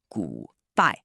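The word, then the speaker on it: 古代: Pronounced "gu dai".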